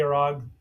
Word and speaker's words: Arg: Subtitles call him a Rock, but it's a hard G. So, they're trying to keep the Sandmurks from driving them crazy. Fortunately, Arg takes on the queen and kills her.